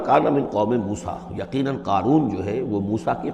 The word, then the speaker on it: قارون: اسی طرح کا ایک شخص جو ہے یہ قارون تھا اسرائیلی، اور نہ صرف اسرائیلی، حضرت موسیٰ